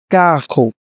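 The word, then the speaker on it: carro: চলে আসলাম আজকে ট্রান্সপোর্ট নিয়ে তো প্রথমেই গাড়ি কাহু কাহু কাহু যদি এভাবে উচ্চারণ করতে না পারেন তাহলে ডাবল আর উচ্চারণ হবে এভাবে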